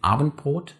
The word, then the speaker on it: Abendbrot: When people speak a little faster, they sometimes even turn it into a small pause without noticing, whenever the D comes in front of a consonant that is formed in front of the mouth, and say Abendbrot, Zweiradständer, and Koboldtanz.